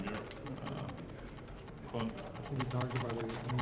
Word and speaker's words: Myhr: Is that how you pronounce it? Yeah, Myhr? Okay. It sounds like a Scottish surname, Myhr.